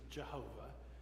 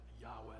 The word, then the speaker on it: Yahweh: to be verb so Yahweh we used to pronounce it Jehovah but Scholars figured out that pronunciation is not right that Yahweh is the right way to pronounce this Hebrew